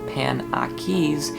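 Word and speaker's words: Panakes: panachi should be pronounced pan aquis even though sophie says it so it rhymes with pancakes it is related to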